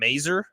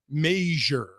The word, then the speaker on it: Mazur: all right well know I saw a pronouncer on Twitter from a guy who said it's pronounced like Frasier I you're probably right